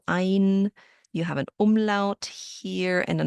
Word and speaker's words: ein: The EI letter combination sounds like I, so ein.